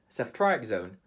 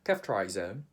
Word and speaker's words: ceftriaxone: In the Philippines, we would say, the doctor has prescribed CEFTRIAXONE for his pneumonia. In the UK, they would say, the doctor has prescribed CEFTRIAXONE for his pneumonia.